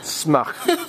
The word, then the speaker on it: Smacht: Once again remind me exactly how to pronounce the event? It's called the Smacht. Smacht.